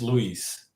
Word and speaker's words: Luis: What's the proper pronunciation? So proper is Luis. Louis? Yeah, you're right. You're correct. Yes. That's the proper way.